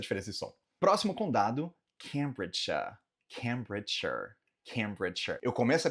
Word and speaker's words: Cambridgeshire: Próximo condado, Cambridgeshire.